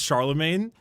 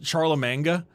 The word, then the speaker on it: Charlemagne: It was It was very Dude, they're they're so mad about how I pronounce Charlemagne, right? Didn't I pronounce it like Charlie Manga or something as a which I was obviously